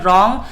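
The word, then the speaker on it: wrong: और यहाँ पर है रॉन्ग, तो यहाँ पर डब्ल्यू साइलेंट है, इसमें नाइट तो एन,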